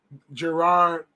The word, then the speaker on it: Gerard: Gerard. I think I put a J like Kevin Gerard. Yep, because it got the 2 R's.